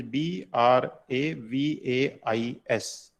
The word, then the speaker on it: Bravais: going to start a new topic that is bravais brave lattice you see the spelling it is b r a v a i s it is not spelled as brevis it is is correct pronunciation so bravais lattice it is not spelled